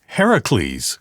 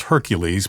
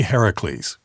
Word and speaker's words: Heracles: about in the book it's Heracles right as most people would think of it as Hercules but it's really Heracles right yeah and that's